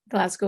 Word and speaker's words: Glasgow: You run the Glasgow. Is that how you say it? Glasgow, yeah.